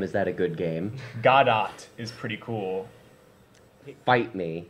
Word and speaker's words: Godot: Godot is pretty cool.